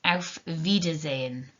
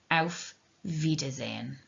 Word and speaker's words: auf Wiedersehen: songs from the sound of music it is auf wiedersehen okay auf wiedersehen so those are our ways to say hello